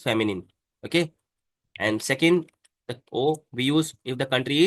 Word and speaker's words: aux: Okay, and second the o we use if the country is masculine.